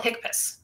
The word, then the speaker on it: HCPCS: more initials hcpcs right we call it I I call it hick piss I can easiest way I can pronounce it okay so CMS created